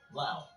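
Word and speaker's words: Laos: the navy number four lao thanks to the u.s the country of lao pronounced without the s can say it's the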